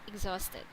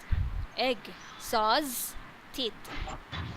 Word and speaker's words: exhausted: that, you better use other similar word like exhausted. Okay. So this is very useful. Okay. So Yeah. try to practice that. Exhausted. Exhausted. Exhaust. Yeah. Just Exhaust. remember egg. Exhausted. Egg. Sauce. Tid.